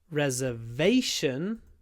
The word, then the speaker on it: reservation: thing here is to remember where to put the stress reservation reservation so we have a long ver reservation but re reserved reserved reserved along for the second syllable reservation reserved reservation reserved